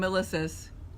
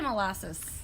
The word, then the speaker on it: Milasas: Simone Milasas. I said it right. Some people say molasses.